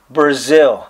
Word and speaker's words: Breazeale: pronounce this man's name it is pronounced like the country Brazil yes sir just like